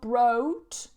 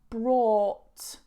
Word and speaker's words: brought: I bought some bread brought exactly the same not broked brought brought have you brought the